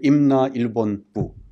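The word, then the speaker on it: 임나일본부: there for Mimana, or what's pronounced in Korean, Imna Ilbon Bu.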